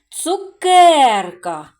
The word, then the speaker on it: цукерка: цьому слові три склади на який склад падає наголос цукерка Так звичайно на другий склад к на голосну е а тепер ми з